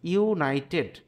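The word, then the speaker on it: United: কিন্তু এখানে একটি কথা রয়েছে, দেখো ইউনাইটেড, ইউ এর উচ্চারণ কি হয়েছে, এখানে ইউ এর মতো হয়েছে, তাহলে আমরা এখানে অ্যান ব্যবহার করতে পারবো না।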